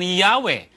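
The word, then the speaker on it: Yahweh: Sabi po nila, while inclining to view the pronunciation Yahwe as the more correct way, we have retained the form Jehovah because of people's familiarity with it since the 14th century.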